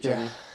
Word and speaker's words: Kipchoge: I just they watched got a thing on Kipchoge. Am I saying it right? Is it Yeah, Kip- Kipchoge.